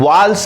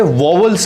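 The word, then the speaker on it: vowels: ज्यादातर स्टूडेंट्स या ज्यादातर लोग इन्हें वोवल्स कहते हैं, लेकिन वोवल्स फिर से एक गलत प्रोनाउंसिएशन है। ध्यान आपको रखना है कि इन्हें वोवल्स नहीं, इन्हें वाल्स कहते हैं।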